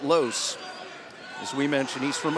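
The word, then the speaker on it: Loce: L-O-C-E is how you spell it, but you pronounce it Los.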